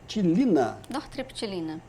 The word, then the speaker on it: Nortriptilina: O nome é, não sei se eu vou falar a pronúncia correta, nritilina. Nortriptilina.